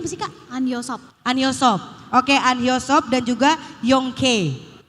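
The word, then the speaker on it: 안효섭: Dan baru-baru ini kan baru diselenggarakan juga Anhyosop ya, dibacanya apa sih Kak? Anhyosop.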